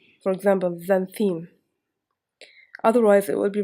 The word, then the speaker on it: xanthine: For example, xanthine. Otherwise, it will be pronounced like X.